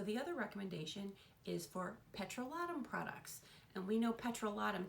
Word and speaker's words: petrolatum: I know, petrolatum, sounds like I'm British, right? That's actually how you pronounce it.